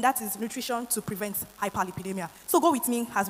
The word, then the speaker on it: hyperlipidemia: hyperlipidemia there's nothing difficult about it it's just pronounced hyperlipidemia which is simply the presence of excess fat